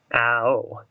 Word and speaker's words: Ao: Ao. So it's like, I don't know how you pronounce that. It's A-O. It's like owl instead of owie.